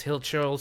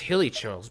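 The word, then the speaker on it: Hilichurl: But anyways, we took care of those hill churls, so hilly churl. There's an I in that, so it's basically pronounced hilly churls, but I'm just gonna call them hill churls.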